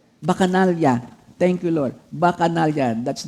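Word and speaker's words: Bacchanalia: Bacanalya thank you Lord. Bacanalian. That's the way how to pronounce it.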